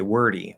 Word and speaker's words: wordy: the end also okay wordy wordy so now you're going from er into d into e okay it's spelled with y but it's an e sound wordy okay now again